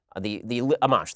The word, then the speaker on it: Amash: Justin Amash, I think it is pronounced, Amash, thank you, the Libertarian / Republican congressperson.